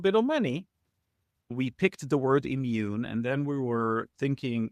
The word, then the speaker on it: Eammun: But of course, everybody's trying to pronounce it EA immune. No, it's just immune. It's just the word immune.